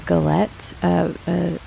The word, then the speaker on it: galette: going to make a galette, apple galette. I think that's how you pronounce it. It's French. It's basically an apple pie where it's just free form.